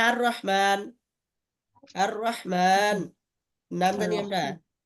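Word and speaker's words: الرحمن: শুরুতে আলিফ লাম লাগাইছে, তাইলে লামের উচ্চারণ যদি হইতো আল রহমান হওয়ার কথা ছিল, কিন্তু যে র এটা হলো এইখানকার মধ্যে, এই 13 হরফের মধ্যে র থাকলে এর শুরুতে আলিফ লাম লাগলে কি হবে না, ওই লামের উচ্চারণ হবে না। এই জন্য এটা কি উচ্চারণ হয়, আর রহমান কি উচ্চারণ হয়, আর রহমান।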